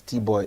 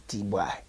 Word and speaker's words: Bwoy: He says, no, they don't pronounce it as Bwoy, it's Bwoy.